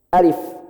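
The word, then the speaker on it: ألف: Kecuali alif. Alif dibaca 1 harokat saja. Jadi dia nimbrung ke sini, tapi sebenarnya dia dibaca 1 harokat. Ya, karena alif, contohnya alif lam mim, kita bacanya alif. Enggak ada orang baca alif lam alif, enggak. 1 harokat aja.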